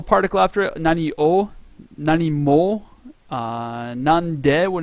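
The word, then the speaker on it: 何: or Nani uh what so when is it pronounced Nan and when is it pronounced um Nani when there's a no after it it's always pronounced nan nan no nan no Nani no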